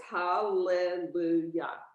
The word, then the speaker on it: hallelujah: that a different word because there are two llamas together you pronounce the schwa so it's hallelujah okay because there's when two identical letters are next to each other you say hallelujah okay hallelujah okay um